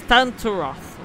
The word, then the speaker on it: Tantaroth: I know I said the name wrong as well, guys. I know you guys probably were aware that at the beginning I completely said the name wrong. But it is Tantaroth.